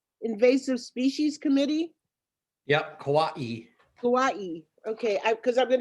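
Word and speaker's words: Kauaʻi: it's filling up nicely um how do you pronounce uh it's a it's the hawaiian word that you ai kawaii invasive species committee yep kawaii kawaii okay because i'm going to introduce you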